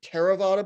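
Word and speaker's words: Theravada: classes two categories there's terravata Buddhism spelled with a I'm down here if you see my cursor spelled with a th but it's just pronounced it's a t and that's the type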